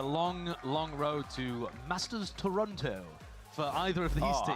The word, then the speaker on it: Toronto: It would be a long long road to Masters Toronto for either of these team. How pronouncing the T at the end there.